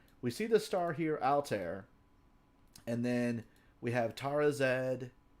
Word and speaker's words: Altair: In fact, Altair is how a lot of people pronounce this star, but really it should be Altair, right?